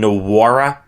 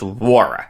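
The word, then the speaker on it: Jordan Nwora: just say that was calling him Jordan nawara on Friday and that's wrong it's wara the N is silent I apologize for that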